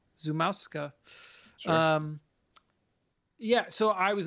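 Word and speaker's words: Szumowska: would like Joe to look this up and pronounce because she is Polish. I believe it's Zumowska. Zumowska.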